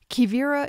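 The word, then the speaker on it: Quivira: Kivira is spelled Q-U-I-V-I-R-A.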